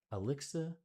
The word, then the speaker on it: Alexithymia: Can I get a pronunciation one time? Alexithymia. Literally no words for emotions, a psychological trait characterized by difficulty experiencing, identifying, and describing one's own emotions. Alexithymia.